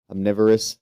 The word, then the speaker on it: omnivorous: has human-like teeth and it helps consume its omnivorous. How do you say that word? Where they eat meat and omnivorous.